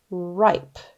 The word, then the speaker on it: ripe: is one vowel sound even though it's a vow team e is silent I says his name let's sound out the